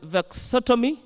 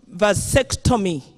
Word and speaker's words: vasectomy: ready to have a vexotomy i can't pronounce that word properly madam speaker vasectomy i have been advised madam